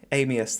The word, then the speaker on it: Armaeus: the Fusion to get Armaeus down. Is that his name? Have I pronounced that right? Amius, that's the one.